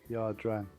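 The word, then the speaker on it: Ia Drang: Is it Aya or I always forget. Horrible. I always pronounce it Ya. Ya. Ya. Gotcha. Ya Dran.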